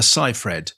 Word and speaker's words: Seyfried: She's very clear it's Amanda Seyfried. It sounds It just sounds wrong, but that's what she says.